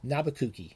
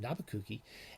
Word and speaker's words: Nabokov: Or as we call him, as it's properly pronounced, and Brian Boyd makes the argument in this, Nabucco. It's pronounced, actually properly pronounced Nabucco.